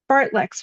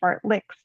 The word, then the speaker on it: fartlek: Fartleks, which the men pronounced fartlicks, could make us puke.